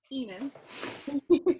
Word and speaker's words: Aenus: And Aenus. Nipples, shafts. Yes. Okay. Very Yeah. Pronunciation guide. Hang on. Oh. Enos. Aenus. It's pronounced Enu.